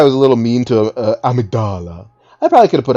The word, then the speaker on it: Amygdala: It's pronounced Amygdala.